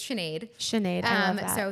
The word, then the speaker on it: Sinead: I used to hate the first day of school because no one could say it right, but it's Sinead.